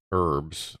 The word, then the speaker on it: herbs: uh you put the you actually pronounce the h in herbs which I mean that